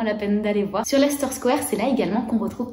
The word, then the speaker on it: Leicester Square: mais c'est Lester square attention ça s'écrit Leicester Square mais ça se prononce donc vous skippez la syllabe du milieu et vous dites simplement la star square parce que si vous dites lassister Square à quelqu'un pour trouver votre